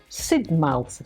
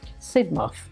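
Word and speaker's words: Sidmouth: from Jamaica as a freshman I call it Sid mouth Street and she sort of said to me it's not pronounced Sid mouth it's pronounced sidmov so the little things like that they hope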